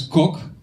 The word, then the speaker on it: Kok: My last name is Cook. Now I know what you're thinking, and yes, is short for. Also, Cook, it's spelled K-O-K.